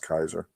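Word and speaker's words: Keyser: It's a It's spelled Kzer, but it's pronounced Kaiser.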